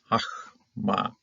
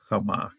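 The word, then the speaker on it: חכמה: Hachma. It's Hachama. Open. They're all open syllables here, so they're all sounds to them.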